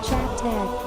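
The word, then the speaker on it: chapteh: Orchid, pronounced as Chat Tag, is a traditional game that was popular amongst children in the early to late 1900s in Singapore.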